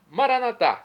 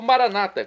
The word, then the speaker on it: Maranata: nosso criador e agora eu clamo maranat como dizemos nós católicos ou Maranata como dizem nossos irmãos separados os evangélicos ou protestantes não importa a pronúncia o significado é o